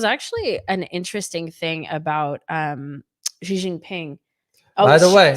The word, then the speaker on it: Xi: He wrote, he said the she, because I used to say she, he said, think of it as letter C, C. in English language.